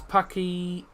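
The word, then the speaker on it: Packie: Paky. That's how it's pronounced by the way.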